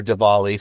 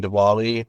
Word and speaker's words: Diwali: when it comes to Dali or or Dali sometimes it might be pronounced with a V and um is that when when someone um walks up to someone during dwali and says happy holidays